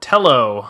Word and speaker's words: Tello: buying a company called telo i think it's pronounced like that sort of a take on hello t-e-l-l-o and they did